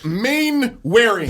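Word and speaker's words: Mainwaring: main wearing main wearing Waring yeah main wearing you kept on saying Waring and he told you I know but I like I like that pronunciation better I did I really did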